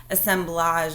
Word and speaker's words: assemblage: me say it again assemblage is right because I really like that word you say it like it's French assemblage artifacts or things